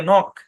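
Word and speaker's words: knock: এভাবে লিখবেন হ্যাঁ পড়বেন শব্দের শুরুতে কে এন থাকলে কে সাইলেন্ট ঠিক আছে তারপরে পড়বেন কে এন ও সি কে নক কে এন আই এফ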